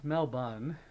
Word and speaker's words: Melbourne: I believe oo pronounce pronounce Mel bun you got to say it like that melbour melbour melin M